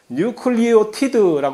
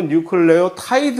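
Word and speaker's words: nucleotide: 원래 제대로 된이 아니라 원래 저쪽 동네에서 언급을 할 때 발음은 뉴클리어 타이지 근데 왜 이게 여기 우리 동네에서 뉴클리어 티드 아고 변했는지 모르겠으나 어쨌든 뭐 둘 중에 하나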